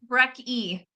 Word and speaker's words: Brecky: Brecky. Brecky. Okay. Rhymes with Becky.